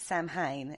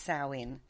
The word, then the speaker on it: Samhain: as saowin or sandwich a lot of people pronounce it samhain and it's not it's salwin but we're going to stick to halloween because